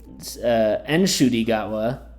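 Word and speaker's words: Ncuti Gatwa: And Enshudigawa, that's how you actually say his name, as his mother told him he was saying it wrong.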